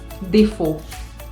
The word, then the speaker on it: défaut: La A y la U en francés también van a hacer el sonido O. Por ejemplo, en la palabra défaut, défaut, défaut, que significa defecto.